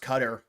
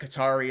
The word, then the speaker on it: Qatar: Why do you pronounce it Qatar and not Qatar? Because that's how it's pronounced, believe it or not. It's pronounced Qatar. And I used to pronounce it Qatar because it's like Qatari and stuff, but yeah, no, it's Qatar. I mean, I remember Trump saying that like 5 months ago. He's like, it's actually Qatar.